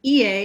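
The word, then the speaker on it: いいえ: And ie is no.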